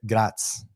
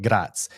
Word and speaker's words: Graz: Vienna to southern Austria, you hit Gratz. It looks like Graz. We learned how to pronounce that one. Probably still butchering it, but Gratz.